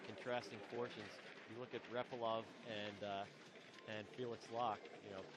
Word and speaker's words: Repilov: But then I heard the Russian commentator last year at the Worlds call him Repilov. Okay. So who am I to argue, right? Yeah, then I should correct my pronunciation.